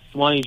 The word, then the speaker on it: Suwanee: Georgia or something like that how do you pronounce that town there Joseph oh uh Suwanee Georgia okay I got it how can we